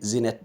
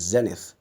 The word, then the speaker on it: Zenith: Eddy n ith people some people see Zenith Bank I don't know how that pronunciation has come about but the proper rendition of that word is Zenith so I work at